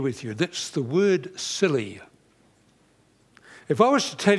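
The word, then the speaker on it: Scilly: now i'm sure you've heard of the silly isles they're just off the southwest corner of england the name is spelt s-c-i-l-y but it hasn't always been spelt that way it used to be spelled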